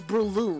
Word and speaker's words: Breloom: Name's Breloom. It won't be for long. It rhymes with doom.